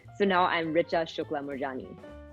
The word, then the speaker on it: Moorjani: now i'm richa shukla morjani my new last name is morjani uh or i guess it's murjani so funny i don't even say my name right johnny that's all i